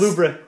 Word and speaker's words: Louvre: It's pronounced Louvre.